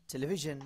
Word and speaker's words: television: Television. টেলিভিশন, Television. টেলিভিশন, হালকা জ, Television.